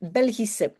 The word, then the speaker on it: Belgisch: Now I have to say that Belgische, if you have this SCH at the end, if it's followed by an E or not, you pronounce it as a simple S. So you will pronounce Belgisch, and you will not say Belgisch or sh or whatever. It's a simple S, Belgisch.